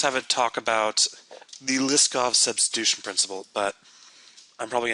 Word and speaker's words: Liskov: Liskov. I'm assuming. Did he? I'm assuming. And what was his name? Liskov. And how do you pronounce it? Liskov.